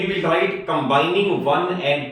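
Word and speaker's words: ρ: भी sign of proportion remove होगा तो कोई कांस्टेंट इंट्रोड्यूस होगा वी can write it एस आ = रो ए बा एय इस तरह से लिखा जाएगा और आर एओ प्रोनाउंस किया जाएगा रो तो आ इ रो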